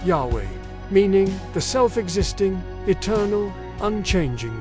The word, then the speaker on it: Yahweh: The Hebrew phrase is YHWH, often pronounced Yahweh, meaning the self-existing, eternal, unchanging one.